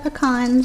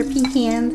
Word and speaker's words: pecans: in all of the pecans or pecans however you want to say it right let's mix that